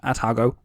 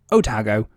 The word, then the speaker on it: Otago: Anyway, that would be transferred to the Royal New Zealand Navy as the Otago, not Otago, Otago, spelled with an O instead of an A.